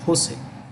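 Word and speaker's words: José: um San Jose the J in Spanish is pronounced with an edge Jose and um I think I should clear this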